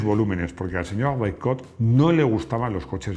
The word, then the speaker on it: Bercot: Bercot, que he dicho Bersot, bueno, es que mi pronunciación en francés, yo creo que es como me ha sugerido Rodrigo, Bercot.